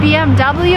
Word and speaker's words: BMW: This is a German car, and in Germany you would say BMW. But if you're in America and you want to sound American, it's BMW and no other options.